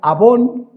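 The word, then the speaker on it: עון: Fíjense, la palabra iniquidad viene del hebreo abón, como la marca esta de toppers, ¿no?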